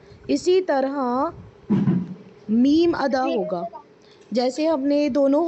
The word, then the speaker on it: م: है ना होठों का, ये जो ड्राई पार्ट है इसे आपस में मिलाएंगे। Meme meme. फायजा इधर देखिए बेटा, मीम। थोड़ा सा आपको ऐसा फील होगा नोज में से आपकी साउंड प्रोनाउंस हो रही है।